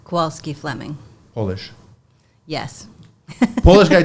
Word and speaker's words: Kowalski: So it's Melanie, and how do you pronounce the last name? Kowalski Fleming.